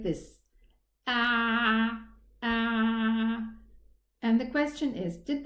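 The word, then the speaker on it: ع: So I need to pronounce it from a little bit deeper within the middle part of the throat. And let's pronounce it again. Ah. Ah. Again. Ah. This is, inshallah, the correct pronunciation of the letter Ain.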